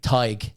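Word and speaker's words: Tadhg: And that's tag. Tig. Tig.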